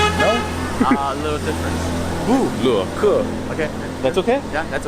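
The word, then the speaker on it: 布罗克: Bu, le, ke. Okay. That's okay? Yeah, that's okay. How do you say it? So ke. say it normal, like you were going to say my name. 布罗克.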